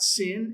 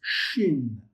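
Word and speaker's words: שין: It's not sin. It's shin as in should or you know shadow or uh what's another sh word?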